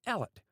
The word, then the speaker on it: Elliot: It is remarkable that in many districts in the south of Scotland, the name is still pronounced Alllet, though this is one of the older forms in which it appears.